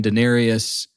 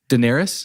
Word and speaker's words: Daenerys: watching season one in Denarius like her dragons are born it's really yes and then I just mispronounced her name Daenerys yeah that she's the